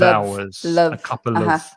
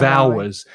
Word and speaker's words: hours: of a couple of hours like love a couple of a couple of hours and the from the sound from of connects with the vowel sound because remember the h is silent on hours so it's couple of